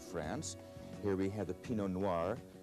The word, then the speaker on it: Pinot Noir: Here we have the Pinot Noir. Pinot Noir, the grape that makes the great red Burgundies of France.